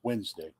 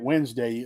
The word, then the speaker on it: Wednesday: Tuesday Odin's day that's Wednesday that's why when you're a kid and you write Wednesday why they got that stupid letter D in there you don't pronounce the Wednesday but because